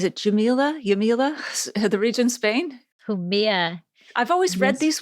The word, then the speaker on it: Jumilla: Jumilla. I've always read Yes. these words, but, pronouncing them, if you haven't been to the region, it's like, oh, okay.